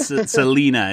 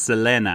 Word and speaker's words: Selena: And I think it's not Selena, it's Selena, I believe, is how you're supposed to pronounce it, Nathan.